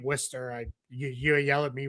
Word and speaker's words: Worcester: Yes, that's how you say it. It is not Wararchchester or anything like that. You say it Worcester.